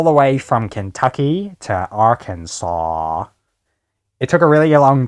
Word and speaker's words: Arkansas: it as it was spelled, it should be our Kansas. But no, apparently it's Arkansas. I drove all the way from Kentucky to Arkansas.